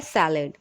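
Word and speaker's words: salad: इसको इंग्लिश में जब हम प्रोनाउंस करते हैं, हिंदी में होता है सलाद, और इंग्लिश में जब हम प्रोनाउंस करते हैं तब होता है सैलड.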